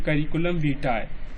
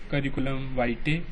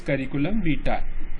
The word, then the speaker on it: curriculum vitae: Yes, this is the pronunciation, curriculum vitae. There are some who wrongly pronounce it as curriculum vitae. There are some who wrongly pronounce it curriculum vitae. It is curriculum vitae.